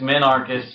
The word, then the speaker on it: minarchist: It's just minarchist usually. I've heard of it. It's like mini and anarchy.